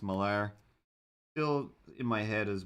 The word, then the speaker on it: Millar: I want to say that was like Rags Morales and Mark Millar or Mark Miller. I think it's pronounced Millar.